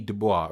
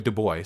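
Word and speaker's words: Du Bois: I Frederick Douglass w/e be Dubois to boy sorry somebody told me that's how it's pronounced Martin Luther King jr.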